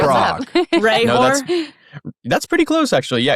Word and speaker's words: Hrehor: Hrehor? That's pretty close, actually. Yeah, it's Hrehor. So it's a Czech last Hrehor. name. The H is silent.